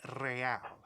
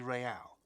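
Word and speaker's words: réal: you owe me 130 real he pronounces the r with a mock aristocratic accent the iir or inter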